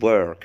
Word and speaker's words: work: عندي كلمة work هنا بتتنطق بصوت اسمه long schwa. الصوت ده اسمه long schwa. ده نفس الصوت اللي بيجي في كلمة girl بنت، فلازم يتنطق لتحت ومكسور شوية كده وطويل، هو long.